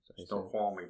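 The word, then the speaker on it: Snoqualmie: yeah yeah that was a cool snow qualy snow qualy pass that's what it is I always mispronounced it yeah pretty area oh yeah it's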